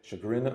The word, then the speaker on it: Chagrin: Chagrin Valley Okay. Dispatch. Yep, I know. A lot of people mispronounce it.